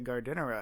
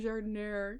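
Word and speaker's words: giardiniera: Okay, I don't even like jardinera, but I know you're saying it wrong. I know, right? Like, I'm trying to be a better person. I'm trying to be better and actually saying jardinera.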